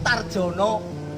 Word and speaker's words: Daryono: Ini Darjono Daripin. Darjono Daripin, Daripin. ya. Tugu Darjono Daripin. Tapi orang sini mengatakan Tarjono. Tulisannya ejaan lama. Jadi Darjono sama Tarjono.